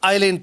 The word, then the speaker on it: island: देखिए इसको आइलैंड पढ़ा जाता है, IS है लेकिन IS साइलेंट रहता है, तो इसको हम आइलैंड पढ़ेंगे.